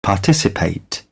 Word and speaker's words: पार्टिसिपेंट: ज्यादा है तो पार्टिसिपेंट उसका स्ट्रेस भी बिल्कुल यही है उसको पार्टिसिपेंट नहीं कहेंगे पार्टिसिपेंट पार्टिसिपेंट फोर सिलेबल है सेकंड के ऊपर स्ट्रेस है पार्टिसिपेंट पार्टिसिपेंट पार्टिसिपेंट पार्टिसिपेंट